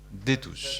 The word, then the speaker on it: Destouche: À sa droite, comment on dit, Destouche ou Détouche? Comme ça se prononce, Détouche.